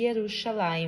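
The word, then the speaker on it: ירושלים: de Judá em cima escrito Jerusalém em hebraico que se pronuncia e yerushalaim min Oi e essa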